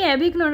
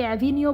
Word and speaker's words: Avignon: কখনো আমি অ্যাভিগনন আর কখনো অ্যাভিনিও বলে ফেলছি। আসলে ইংরাজিতে উচ্চারণ করলে মনে হয় অ্যাভিগনন হবে, কিন্তু প্রাচীন কাল থেকে ফ্রেঞ্চরা এই অঞ্চলকে অ্যাভিনিও বলে থাকে।